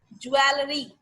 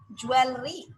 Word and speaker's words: jewelry: Most of the people pronounces also jewelry, but it's not a jewelry, guys. So what's that? If it's not a jewelry, so what is the correct pronunciation of that word? So let's come and see. What is that? That is jewel. That is, look at this, jewelry. What's jewelry? Not jewel, it's jewelry.